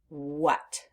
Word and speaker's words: what: is that letter A the letter a is making the short u sound uh uh uh and we don't expect that we expect the a to make the a sound like a short a but that's not happening in the word what so we have the